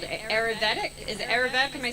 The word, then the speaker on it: Ayurvedic: Is it Ayurvedic? Am I saying it right? Ayurvedic, yes.